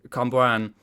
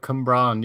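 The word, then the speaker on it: Cwmbran: I'm from Cumbrian. Oh right, Cumbrawn. Yes. Oh, Cumbrian, right. That's how you pronounce it.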